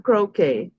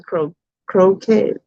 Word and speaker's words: croquette: and maturity and we I used to say what is it salmon croquet is anybody else used to do the salmon croquet and so we know it's salmon croquette Chromecast okay anyway it's